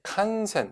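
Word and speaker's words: 感染: 그 다음 자, 인플루엔자 바로 독감의 칸센 발음 조심하고요. 앵이 아니라 생입니다.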